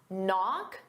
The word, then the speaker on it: knock: Knock. The K is silent and off because they go together.